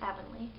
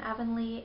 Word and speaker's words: Avonlea: I think I heard that it's pronounced Avonlea. So, Avonlea, although that's not how it's spelled, but isn't that how most of the English language works?